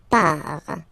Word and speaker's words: pars: So the first form is je pars. So final S not pronounced, je pars.